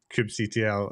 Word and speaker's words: kubectl: Sorry, I'm now just asking how you pronounce kubectl. Is it kube control, kube huddle?